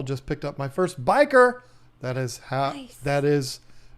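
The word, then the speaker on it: bichir: I pronounce it biker. You might say Bishar, or you might be a weirdo like Tanner Serpa and call him Bishers. What? I say biker because I like motorcycles and I think it's cool to say biker.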